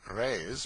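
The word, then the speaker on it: reis: the Portuguese pennies or Rays pronounced rays are prodigious it takes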